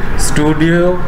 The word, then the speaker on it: stdio: Studio STDIO stands for standard input output. STDIO, normally we pronounce STDIO.h.